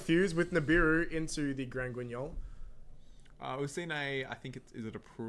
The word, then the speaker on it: Grand Guignol: Grangungunil. Oh, Grand Guignol. Oh. Thank you, Ashoka, telling me how to pronounce that one.